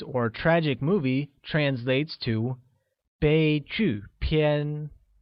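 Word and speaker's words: 悲剧片: tragic movie translates to bei Qiu PN bei Qiu PN is pronounced using a high level tone on e a falling tone on you and a high level tone on a once again it's they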